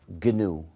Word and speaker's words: GNU: nom un jeu de mot ce système s'appelle genu GNU et c'est un acronyme récursif Gou veut